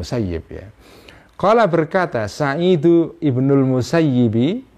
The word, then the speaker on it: al-Musayyib: IBN Al Muhyi itu bisa bisa dibaca al-musayyib bisa dibaca al-musayyib ya Hai kalau Penduduk Madinah zaman dulu ya membacanya Ibnul musayyib t-shirt dan musayyib ini adalah seorang tabiin yang tinggal di Madinah Ya tapi kalau orang-orang Irak itu membacanya adalah Syaikh Ibnul musayyab Hai nah kebanyakan para ulama memilih membaca Syailendra musayyib ya ini salah satu tabiin